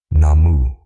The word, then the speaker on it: Namu: The characters read Namu Myoho Renge Kyo, not Nam. A viewer named Goji wrote to us directly at a fast pace. He said, "It isn't possible to pronounce the U in Namu, so it becomes Nam."